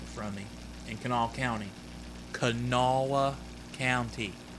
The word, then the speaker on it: Kanawha: across the river from me in kanawha county canala county it's pronounced canal okay it might be spelled cano wall it's